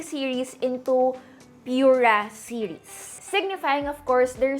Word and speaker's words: Pura: their P series into Pura series signifying of course their start of a new chapter naming it from the word pure so yep the pronunciation is Pur and not Pura so the pur 7